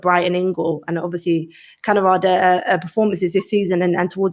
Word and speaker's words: Kaneryd: Kaneryd.